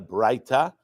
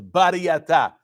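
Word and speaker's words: Baraita: That's called, really, it's not a Braita. Sfaradim, we pronounce it as Bariyata.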